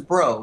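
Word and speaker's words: Breaux: that the this is bro it's uh pronounced like bro but it's bro in the french way oh yes yeah yeah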